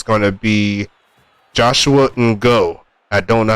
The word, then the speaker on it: Ngo: It's going to be Joshua Ngo. I don't know how to pronounce that. I'm just going to say Ngo. Joshua No. Is it No? Oh, so the G silent. Okay.